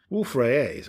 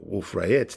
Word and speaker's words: Wolf-Rayet: Having run out of hydrogen for core fusion, Wolf-Rayets, or Wolf-Rayets, depending on your preferred pronunciation, are stars which are